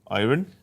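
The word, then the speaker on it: Ayrin: This is a weird way of spelling Aaron. A-R-R-I-N? A-Y-R-I-N. Yeah, okay. Yep. Aaron? Iron? It's an Irish accent.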